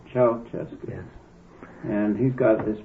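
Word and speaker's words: Ceaușescu: Ceausescu, is that how you pronounce it? Nicolae Ceausescu. Ceausescu.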